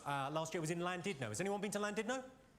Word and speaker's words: Llandudno: In Wales, the double L is pronounced with a C."